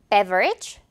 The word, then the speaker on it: beverage: 선생님이랑 확인해 볼게요 자 이렇게 세 단어가 나왔습니다 beverage breath 그리고 rec 자 어때 여러분 선생님 발음까지 들어 보니까 공통점이 좀 느껴지나요 맞아요 오늘